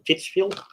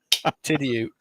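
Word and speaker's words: Tidioute: from Titsville, USA. That's not how you pronounce that. I know. Tidiute.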